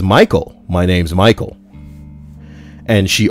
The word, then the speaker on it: Michael: that it was pronounced Michelle. Mom, bemused, said something along the lines of, "It's literally a name from the Bible. It's pronounced Michael and has been for thousands of years."